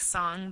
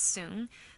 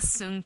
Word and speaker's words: Song: known as the song period it looks like song but it's pronounced soon this is the soon period and the reason why I want to